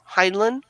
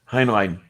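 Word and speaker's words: Heinlein: and it was by Robert heinan I think is how it's pronounced hin line yeah yeah and I'm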